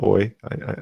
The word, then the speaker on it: Euler: I know it's spelled EU, but it's pronounced Oi.